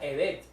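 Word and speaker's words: חֶסֶד: El término bondad viene de una palabra hebrea que se pronuncia edet, y frecuentemente es traducida como misericordia, en especial en los salmos.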